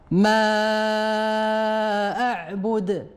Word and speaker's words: ما أعبد: نعم تنطقها بمد حرف الميم ستة ديال الحركات وتنقراوها ما أعبد.